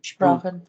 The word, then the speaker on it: Sprachen: सो Sprachen, अब अच्छा, अब अगर एस और पी अगर इकट्ठे हो किसी भी जगह पे, ठीक है, तो हम उसको श और पा का जो है साउंड जो है दोनों को कंबाइन करके जो है ना हम प्रोनाउंस करेंगे, ठीक है।